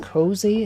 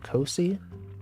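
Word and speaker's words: Cosi: It's spelled C-O-S-I, but I think it's pronounced Cozy instead of Cozy.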